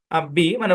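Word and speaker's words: bomb: আর কি নাম্বার মানে মানে এমবি থাকলেই যে সাইলেন্ট হবে না বি মানে ওটা বোঝানোর জন্য এভাবে লিখবেন এভাবে শব্দের শেষে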